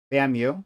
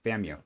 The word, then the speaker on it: FAMU: Is they pronounce it FAMU or just FAMU. FAMU. Okay, FAMU. Excuse me. Thank you. Florida A&M University, or FAMU, is an HBCU.